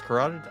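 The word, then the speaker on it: carotid: Victim's corateed artery was slashed by a sharp object, causing blood loss, shock, and finally death. It took me a minute to realize that's how that word is pronounced.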